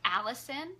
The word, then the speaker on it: allicin: compound in garlic called allicin it's not like the name Allison it's spelled a ll IC IM allison and where all the